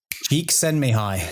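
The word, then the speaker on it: Csikszentmihalyi: discoverer and founder of the flow state mihai geek send me high oh very good mark very very you can't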